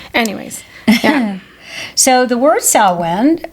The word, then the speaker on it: Samhain: So the word Samhain, which is pronounced like sow, like a sow, S-O-W. Yeah, like Ian, Samhain.